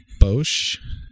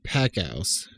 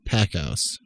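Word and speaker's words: Packouz: So you have David Bosch. Is that how you spell his last name? That I honestly was not really comfortable to pronounce that. To be honest with you. Oh, my bad. It's David Packhouse.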